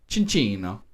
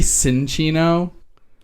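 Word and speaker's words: Cinccino: pronounced this way but I like to go extra Italian with the pronunciation of this name and I call this chinchino ah it could be cinchino or kin Chino and it sees make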